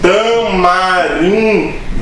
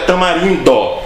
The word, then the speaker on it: tamarindo: Por que as pessoas falam tamarino, né? Tamarino. Quando o certo é tamarindo.